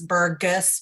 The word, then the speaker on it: Burgess: And just something to note as you're calling to make appointments, it's Burgess with a hard G and Joya with a soft G.